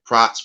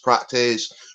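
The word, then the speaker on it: Prates: guy Carlos prz and he's a Brazilian so you gonna hear his name pronounced a couple of ways I hear proz prattes we're gonna go with proz today um this dude props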